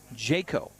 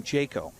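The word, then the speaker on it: Jacquot: the count to Cowan so it is jet Jayco so it's spelled j-a-c-q-u-o-t which French would be Jacob but no they're saying Jayco so there you go pronunciation on our picture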